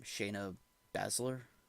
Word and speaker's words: Shayna Baszler: with Amber moon and um what's her name Shayna Baszler that's how you pronounce her name um team six one will